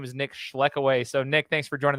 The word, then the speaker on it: Schlekeway: And his name is Nick Schlechway.